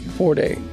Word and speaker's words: Ford: Is it Ford or 40? Ford.